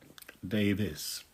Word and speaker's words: Davies: The name Davis, that's the English version of my name, which is spelt Davies but pronounced Davis.